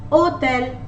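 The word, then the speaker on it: hôtel: Hotel, as I told you earlier, H is usually muted in French, so we will begin the pronunciation of this word from the letter O with an accent circumflex. Hotel. Hotel.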